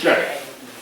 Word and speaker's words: Yale: En norteamericano, pero en lo que es el inglés es Yale. La A es EI. Así se pronuncia.